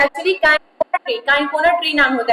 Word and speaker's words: Cinchona: तो actually काइनकोना tree नाम होता है, ठीक ना। काइनकोना नाम का ट्री होता है, स्पेलिंग बोल देती हूँ मैं, CINCHONA कोना ट्री होता है।